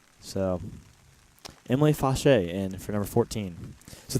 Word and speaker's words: Fausch: I'm gonna pronounce that Fauché. So Emily Fauché in for number 14.